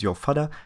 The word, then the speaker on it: Yo Fadda: My name is Yo Fadda. That is how you pronounce it.